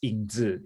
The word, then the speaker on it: 影子: Can you pronounce it in Mandarin, the Shadow? Yeah, it's 影子.